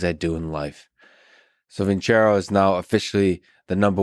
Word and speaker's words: Vincero: Vincero, by the way, is spelled with no H, just C. Vincero.